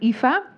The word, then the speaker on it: Aoife: That is spelt very strangely. Alors, ça s'appelle d'une façon très étrange. A-O-I-F-E. A-O-I-F-E. Très bien. Très bien. In Irish, those letters make the sound Aoife.